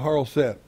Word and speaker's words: charoset: Next, we're going to move over here about the charoset. Charoset is the right way to pronounce it.